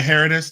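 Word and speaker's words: Herodotus: Um and uh how how do you pronounce it again? Heritis. Yeah, Heroditus.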